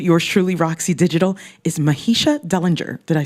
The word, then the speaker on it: Mahisha Dellinger: In the hot seat for Ladies Night with yours truly, Roxy Digital, is Mahisha Dellinger.